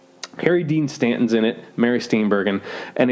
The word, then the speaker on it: Mary Steenburgen: It's with Mary Steenburgen. Mary Steenburgen, that's how you pronounce her name.